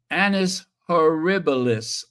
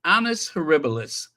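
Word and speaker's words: annus horribilis: year we fervently hope it won't be another Anis herbalis oh I said it right that time Anis herbalis I cannot believe I said that right maybe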